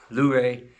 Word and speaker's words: Luray: Luray.